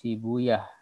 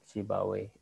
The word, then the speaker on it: Sibawayh: Siba dan waih ya, berakhiran waih. Ya kalau para ahli hadis mereka enggan menyebut waih. Ya tapi iyah ya, mereka membacanya itu sibuyah. Kalau para ahli ilmu nahu ya mereka biasa menyebut Sibawayh.